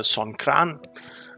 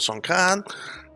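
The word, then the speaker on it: Songkran: holiday next week uh son kran and they always laugh at me when i say it out here because i say it wrong but it's called son khan and we're gonna go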